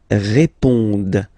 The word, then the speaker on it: répondent: Ils répondent. So same thing here, classic ending, ENT, but then you don't pronounce it. Okay? Répondent. Répondent.